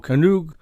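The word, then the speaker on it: Canoo: can pronounce it right but it's spelled c-a-n-o-o canoe uh and it sounds like canoe but it's a startup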